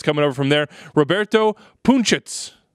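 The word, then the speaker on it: Punčec: Roberto Punchitz. That's his the pronunciation, as I'm told.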